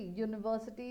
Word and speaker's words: university: See, university is sounding like YU, university. A European, your. It is sounding like Y first comes first and then O. A useful article, Y and U. So this is because the vowels U and E are taking the sound of the consonant Y. So because they are taking the sound of the consonant Y, I'll go according to the sound of it and I'll take article,